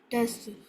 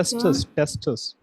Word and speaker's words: testis: Tests. Most males have a pair of tests or testicles. The tests consist of coiled tube-like structure that produces sperm. The test also generate the Testis.